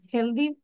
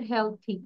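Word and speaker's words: healthy: ইন কোথায় কাজ করে হেলদি হেলদি এনভারমেন্টে উচ্চারণটা হচ্ছে হেলথি Angel আনহেলথি and unfavourable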